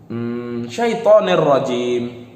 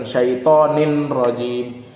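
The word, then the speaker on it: الشَّيْطَانِ الرَّجِيمِ: Ya, kenapa dibaca syaitonir rajim? Karena ada kasrot yang bertemu dengan ro. Makanya bila dibaca a'udzubillahi minasyaitonir rajim, bukan syaitonin rajim. Seharusnya orang yang nggak paham tentang bahasa hukum tajwid, dia akan membaca syaitonin rajim, padahal salah. Yang benar syaitonir rajim.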